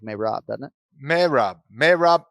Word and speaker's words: Merab: if we could hear marab say his name uh here at this point in time on the program alrighty thanks dwali so everybody says marab sounds like he says may rob i already voiced the